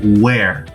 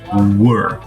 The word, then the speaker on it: were: Uma coisa que sempre acontece durante as aulas é que o aluno fala às vezes where, e a pronúncia é were.